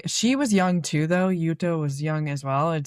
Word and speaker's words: Jutta: Um where she was in the care of this woman named Blessed Jutta. Yutta even, if you will. Blessed Jutta? A Blessed Jutta. Um So, they both they she was young too though. Jutta was young as well